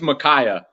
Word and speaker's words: Micaiah: I was like, I'm gonna call him the whole time. What is it? Is that? It's his name's Micaiah.